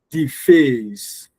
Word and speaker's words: deface: So you don't stress the D. You stress the face.